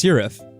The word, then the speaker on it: Sirif: I was gonna say, though, I just realized now I've been pronouncing your name wrong this entire time, so it's Sirif. I've been saying Siraf this whole time, now I feel bad.